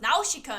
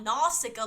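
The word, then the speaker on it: Nausicaä: So anyway, it's pronounced Nausicaa in the Valley of the Wind, not Nausicaa like all you normie Americans call it.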